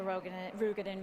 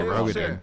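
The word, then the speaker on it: Roegadyn: Continuing on to a Rugadin male. I say Rogadin.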